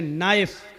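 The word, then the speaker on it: knife: जाएगा जैसे इंग्लिश में नाइफ किसको कहते हैं चाकू को नाइफ के माना चाकू लेकिन के लिखा जाता है बोला नहीं जाता वह साइलेंट रहता है नी मानी घुटना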